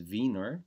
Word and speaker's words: Wiener: Frankfurt but what about wieners this is a word you'd hear more in the u.s. Wiener pronounced in Germany is Vener because it comes from Vienna I didn't know that